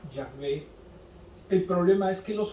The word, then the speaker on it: Yahvé: no sabemos cómo deletrearlos la jota en hebreo se pronuncia y lo más aproximado era yahvé el problema es que